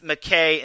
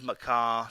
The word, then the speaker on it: McKay: comes to these pronunciations it's mckay instead of macaw so my my apologies